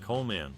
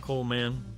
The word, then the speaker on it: Colman: It is important to note that Colman's surname is pronounced Colman, not Coleman, and his name is often misspelled as the latter.